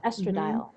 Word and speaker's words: estradiol: a cannabis connection there so how do I pronounce this estradiol estradiol yeah so again it's just wonderful that you